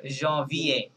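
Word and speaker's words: janvier: আই কি হয় V John V ই R John V A John V এ বলেন জন ভি এ ইয়েস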